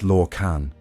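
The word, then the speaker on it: Lorkhan: That notion bore a name whispered in reverence or in dread, Lorcan, pronounced Lorcan, whose burden was to kindle a material plane and thus forever alter the fate of those who dared to see it realized.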